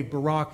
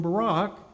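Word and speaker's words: Baarack: By the way, Barak is spelled B-A-A-R-A-C-K, and I think it's pronounced something like this, Barak, Barak, something like that.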